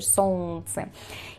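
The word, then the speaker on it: солнце: Por lógica, deberíamos leer esta palabra como son, pero como vemos es muy complicado pronunciar eso. Son incluso la lengua, no sé qué me está haciendo ahí que que es complejo decir son y nosotros decimos en ruso son, evitando la l por completo.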